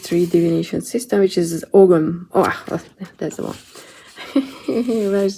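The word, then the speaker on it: Ogham: I was talking about the Celtic Tree Divination System, which is Ogum. Oh, that's the one. Where's the word here? It's OM, or I mean, I thought that you pronounce the G, but apparently not.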